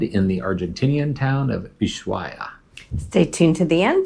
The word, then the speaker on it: Ushuaia: Now, the city can be pronounced either way, Ushuaia or Ushuaia is actually the Argentine way to say it. So Ushuaia.